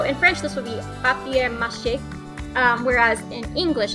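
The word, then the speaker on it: papier-mâché: an eye right before they eat because it's pronounced pop cake so in French this would be papier-mache whereas in English it's paper mache and then we have a fixed I don't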